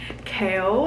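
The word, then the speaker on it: Chaol: There's more cute moments with Kale and also I know his name is Kale, okay, but I'm pronouncing it Kale because that like there's an O in there for a reason.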